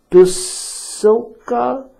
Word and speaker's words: Basilica: Peter's Basilica, is that how you pronounce it? Basilica, yeah.